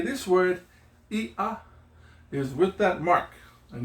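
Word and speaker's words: iʻa: If there's a mark between it, that means there's a separation or a slight pause.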